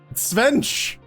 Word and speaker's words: Svench: Quench. Svench. Quench. That's how it's pronounced.